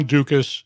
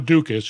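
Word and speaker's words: Ducas: In May 2018, Tobiason was contacted by two former Metro officers, John Dukas and Robert Kinch, who had both terminated their employment with Metro under negative terms.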